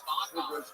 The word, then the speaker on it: Bonbon: Theo Bonbon. Good for little chubby. Bon rhymes with Bon. You just say it twice.